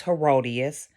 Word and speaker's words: Herodias: name her name was herodias when I when I when I learned the pronunciation of her name the first thing that came to my mind was hideous It came it was like hideous but the wife name